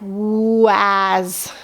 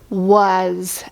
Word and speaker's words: was: funny words like this would phonetically sound Like Waz and say is that how you say the word no we say was and and they give